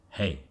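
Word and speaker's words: hej: country in northern Europe hello in Swedish is pronounced hey the 993 also called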